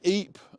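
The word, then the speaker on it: Ypres: So yeah, like EP uh if you've been to E uh in Belgium, it's spelled Y P R E S um but also like Brussels Square as well.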